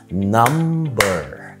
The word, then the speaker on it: number: طبعا في exceptions او في استثناءات للموضوع ده، من ضمن الاستثناءات كلمة number اللي هو رقم. هنا بننطق الام وبننطق البي، بس عشان يمكن الام والبي هنا مش واقعين في نفس المقطع فيمكن عشان كده بتنطق البي number.